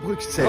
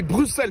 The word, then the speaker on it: Bruxelles: On dit Bruxelles, avec un... Mais ça s'écrit avec un X.